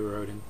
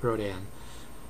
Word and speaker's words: Rhodan: Americans tend to pronounce it Rhodan. Europeans tend to pronounce it Rhodan. So I'll go with Rhodan, since that's the way Germans pronounce it.